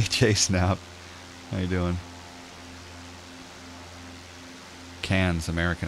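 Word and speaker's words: Cairns: now yeah it's pronounced cans basically its cans it's like CA NS cans and then people of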